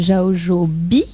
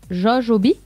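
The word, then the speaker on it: Jaojoby: En fait, le A et le O, ça se dit O.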